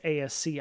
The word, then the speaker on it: ASCII: That's ASCII. ASCII is how I pronounce it.